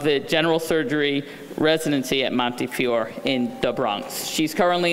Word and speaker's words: Montefiore: she joined the division of pediatric surgery at Monty Fior and she asked me to pronounce it correctly in the Bronx um and is the program director of the general surgery residency at Monte Fior in the Bronx she's currently in the Einstein